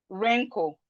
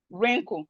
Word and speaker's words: wrinkle: We have right, wrist, wrong, wrap, wrinkle. Right, wrist, wrong, wrap, wrinkle. So all these words, the letter W is silent, and we can see the pattern.